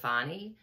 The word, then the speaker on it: Fani: of the picture and let Fanny move on fonnie move on I know her name is I I was listening to her father and her say her name fonnie um yeah so she's